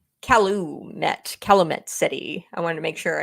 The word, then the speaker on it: Calumet City: that's weird I'm back met Calumet City I wanted to make sure I got that pronunciation right yes I told you about calit